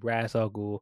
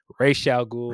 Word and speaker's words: Ra's al Ghul: Every time I think, and I watch this movie, and they pronounce his name, Ra's al Ghul, I always think of the animated series and how it's pronounced in animated series.